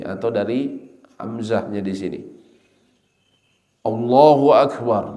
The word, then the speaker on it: Allahu Akbar: Allahu Akbar, bacanya seperti itu, Allahu Akbar. Tapi banyak yang a-nya ini diperpanjang, Allahu Akbar, Allahu Akbar.